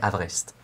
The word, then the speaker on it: Haverest: Donc c'est comme have a rest, mais en un seul mot qui fait Haverest.